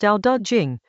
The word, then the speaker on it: Dao De Jing: Chapter 61 of the Dao De Jing — pronounced "dow duh jing," roughly "the book of the way and its power" — is about how large states conduct themselves toward small ones.